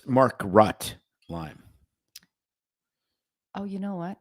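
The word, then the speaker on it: Makrut: k u t Market lime and um it's Mark rut lime oh you know what hooked on phonic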